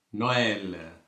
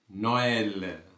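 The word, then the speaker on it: Noël: நோயல், நோயல். சரியா? அப்போ நோயல் என்று உச்சரிக்கிறோம்.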